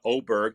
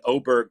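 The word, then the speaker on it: Åberg: name to o or does he change his pronunciation to aberer because you can't have both I don't care where he's from you can't call him oberg and have an A on the word but that's the most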